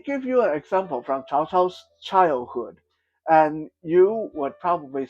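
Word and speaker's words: Cao: I know some people say kao, but I hate it when white people say that. It's supposed to pronounce chao.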